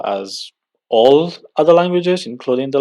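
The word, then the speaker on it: аз: And here very clearly you can see that the Z becomes voiceless. So it becomes from Z, it turns into S. That's also because the following sound is voiceless as well.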